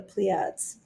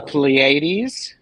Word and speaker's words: Pleiades: yes there we go the pleiads i'm i'm pronouncing that poorly the pleiades pleiades yes yes thank you i